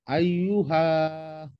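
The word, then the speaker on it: أيها: আই, আইয়ু, হা। আইয়ুফা, হাতে টান হবে। আইয়ুফা, না, হাতে টান হবে। ওই শেষের হাটাতে শুধু টান হবে। আইয়ুহা। হ্যাঁ, শেষের হাটাতে টান হবে।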